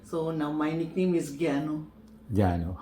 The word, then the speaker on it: Gyanu: call my name so now my nickname is Gano Gano how is spelled g y a n u okay okay